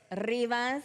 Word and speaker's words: Rivas: Rivas. Rivas. Yeah, there you go. Say it like you're from the West Side, girl.